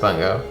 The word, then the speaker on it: Bungo: Yeah, well, it's got to be pronounced Bungo.